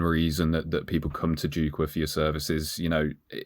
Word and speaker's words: Jukwa: doing currently, and that's Jukhwa, isn't it? Is that pronounced right? Nearly right. And it's quite often pronounced like that, but it's really Jukwa, and it means platform in Swahili.